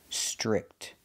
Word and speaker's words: strict: The TR makes a ch chicken sound. Ch, str, stir, strict. Make the short I sound like this is. I, strict.